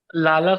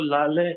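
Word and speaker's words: لاله: का फ्लावर होता है तो फारसी में इसको लाले प्रोनाउंस [गला साफ़ करने की आवाज़] करा जाता है। 48 है का जो प्रोनाउंस फारसी में उर्दू में लाला होता है।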